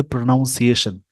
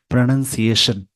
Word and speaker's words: pronunciation: बहुत अच्छी हो जाएगी बहुत सारे इस वर्ड को बोलते प्रोनाउंस एशन एक्चुअल में होता है प्रोनंसिएशन इसको याद रखेंगे चलिए